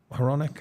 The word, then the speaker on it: Hronek: Philip Hronek? Oh, yeah, Hronek.